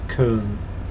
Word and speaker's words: Köln: We say Cologne in the UK, don't we? But in Germany it's pronounced Köln, I think.